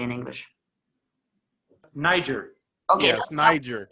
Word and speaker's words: Niger: Okay, Yes, Niger. make sure because it's pronounced one way, of course, in Slavic and another way in English, and I just didn't not want.